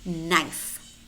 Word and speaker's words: knife: Or we also have words which contain either the letter K or a C, which is silent. Knee, no, knife, kneel, new, night, knelt, known, not, muscle, knowledge, knowledge, asked, asked.